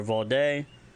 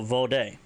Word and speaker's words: vode: A keeper of the way never forgets their debts, their promises, their vode, or their honor. And I know we haven't had that word come up just yet, so vode, brothers, sisters, plural.